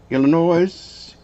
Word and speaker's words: Illinois: Illinois. Actually, it's Illinois. I always tell people there's no noise in Illinois. Very good. Yeah, it's Illinois.